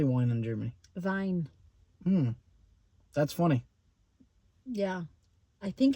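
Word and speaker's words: Wein: like yeah yeah but you pronounce the W as a v Vine Vine Vine Vine Vine Vine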